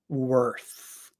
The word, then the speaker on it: worth: worth um so the the th in worth is the unvoiced th worth however in worthy now we have the voiced th the worthy you are